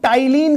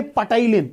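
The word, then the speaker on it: ptyalin: और इसमें सर एक इंपॉर्टेंट चीज है एंजाइम, इसको टाइलिन कहते हैं। Don't say पटाइलिन, इट इज नॉट पटाइलिन, इट इज P silent, so इट इज टाइलिन।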